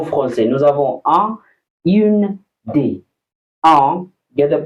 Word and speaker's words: des: En français, nous avons un, une, des. Un, get the pronunciation correct also. Un, un. Then we have une, une. We have des. It's not des. It's des.